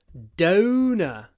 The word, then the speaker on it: donor: stress on the a donor the stress on the O Donor and actually donor in English is the one that sounds like donuts Dona donuts donuts donut